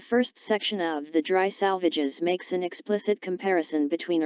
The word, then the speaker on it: Salvages: note to the poem, to rhyme with assuages, with the emphasis on the penultimate syllable.